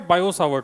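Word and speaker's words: Biot–Savart: और अगली हेडिंग लिखी जाए बायोसावर्ट लॉ। अगली हेडिंग लिखी जाए बायो सावर्ट लॉ फ्रेंच नाम है क्या पढ़ेंगे आप लोग अपने हिसाब से देख लेना बायो ही साइलेंट रहेगा ऐसा क्या वो बेटा इंग्लिश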